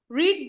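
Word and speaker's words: read: अब देखो बच्चे, ये रीड नहीं है, रेड है, क्योंकि मैंने कहा है कि पैसिव की थर्ड फॉर्म यूज होती है। जो ये प्रोनाउंसिएशन है इसकी होती रेड है, स्पेलिंग सेम लिखे जाते हैं।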